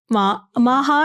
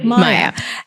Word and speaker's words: Maya: I mean, this top that I'm wearing from your store, Maha, am I pronouncing it correctly? Maya.